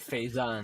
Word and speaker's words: Fazon: Hype Faison, but it's spelled Fazon, and his actual last name is Faison.